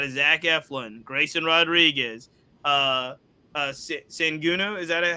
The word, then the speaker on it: Sugano: And, I mean, if we can get anything out of Zach Eflin, Grayson Rodriguez, Senguno, is that how you say it? Sugano? Sugano. Sugano.